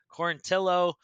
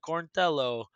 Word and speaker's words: Quarantillo: you can't do that so it's either got to be corn tillow or a lot of people with like italian accents like cornello like corintello like that rhymes with like jello yeah that's what laura